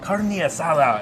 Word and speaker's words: carne asada: beef Tom I'm making a carne asada and you gotta say it like that - dude you can't